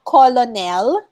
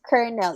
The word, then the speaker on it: colonel: we have it's not colonel colonel is actually you know this is one tricky word because it's not colonel it's kernel it's pronounced as kernel kernel kernel just like